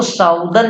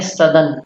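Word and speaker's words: southern: ऑफ द सदर्न टिप, इसको साउदर्न नहीं पढ़ेंगे, ये गलत प्रोनाउंसिएशन है, गलत उच्चारण है साउदर्न, सही उच्चारण है सदर्न।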